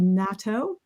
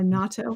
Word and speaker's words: natto: Good example would be from a fermented soybean product called natto, or natto, however you want to pronounce it.